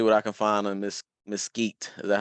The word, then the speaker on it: Mesquite: See what I can find on Mesquite.